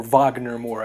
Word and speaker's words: Wagner Moura: to capture Pablo Escobar, played by the incredibly magnificent and transcendent Wagner Moura, or Wagner Moura as he pronounces it, a Brazilian man.